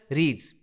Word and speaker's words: read: इसका प्रोनंसिएशन होता है रेड। स्पेलिंग वही है। तीनों फॉर्म्स की स्पेलिंग वही है। लेकिन पढ़ते कैसे हैं? रीड रेड रेड।